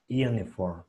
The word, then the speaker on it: uniform: Nada más hay que recordar que esta no es A. Me la estás pronunciando muy bien. No me vayas a pronunciar esta A, por favor. Hay gente que me dice Yuna o Yune. Acuérdense que es una E torpe. Hay gente que me hace Uni.